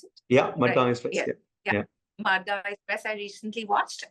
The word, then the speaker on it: Madgaon Express: And is that how you pronounce it? Yeah, Madgaon Express.